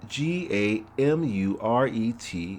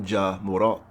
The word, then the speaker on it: Gamuret: 6th to 7th century, mythic, by Tau Apirion, usually spelled Gamuret or Gahmuret. This name pronounced Gamure, not Jamurat, is the early source of the familiar name Montgomery.